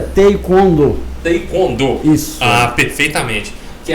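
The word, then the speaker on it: 태권도: Que até o mestre me orientou que é Taekwondo e não Taekwondo, como todo mundo fala, não é isso, Marcelo? A pronúncia correta é Taekwondo.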